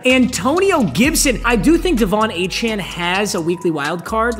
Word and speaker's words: Devon Achane: And by the way, if you've got a problem with my Devon Achane pronunciation, you, unfortunately, are a casual. I have done extensive research. His name is pronounced Devon Achane.